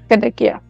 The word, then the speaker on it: Kadakia: So Kadakia, that's how you say it. Kadakia. Yep. जैसे कड़क चाय होती है उसी तरीके से कड़क, and then yep. Kadakia, right?